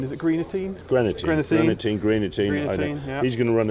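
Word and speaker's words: Greaneteen: And so you've got, excuse my pronunciation, is it Greenatine? Greenatine.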